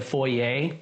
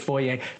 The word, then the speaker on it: foyer: from Texas, that's the foyer. And I left Texas a long time ago, moved to Canada, and learned that it's, most people pronounce it foyer, but I'm just clarifying that in case anyone didn't understand.